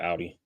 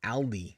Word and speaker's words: Audi: Every time I see you say her name on the podcast, I'm like thinking like you're saying Aldi, like AL. You need to do better with your enunciation.